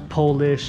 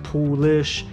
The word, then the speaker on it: poolish: Everyone always said it's not Polish, it's Poolish.